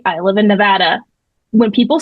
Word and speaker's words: Nevada: I lived in Arkansas, but that's how they pronounce it, Nevada. It's not Nevada.